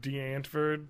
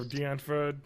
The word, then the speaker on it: Die Antwoord: they wanted to make the movie about like die antwered or Die Antwoord they actually I forget I'm gonna pronounce it wrong but die antw word die yeah thank you thank you Brad oh